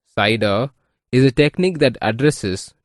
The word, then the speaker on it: CIDR: classless inter domain routing cidr pronounced cider is a technique that